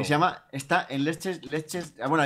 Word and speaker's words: Leicester: Que se llama, está en Leches. Bueno, allí lo llaman Leches Square. ¿Sabes? Leches Square. Se escribe Leicester.